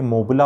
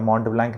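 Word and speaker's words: Montblanc: ये जो पेन लगाते हैं ना महंगे वाले से, ये मोबला होता है, मॉन्ट ब्लैंक नहीं होता।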